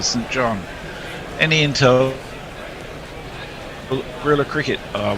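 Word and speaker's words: St John: ease of the tongue i think sinjin for saint john any intel really cricket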